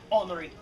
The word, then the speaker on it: Henri: He writes a letter to his cousin Henry, or as he pronounces it, Henri.